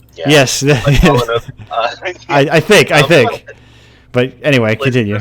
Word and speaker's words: Palahniuk: Oh, Palahniuk. Palahniuk, okay, right. So my Russian/English tongue is just not... Yeah, yes. Palahniuk, I think.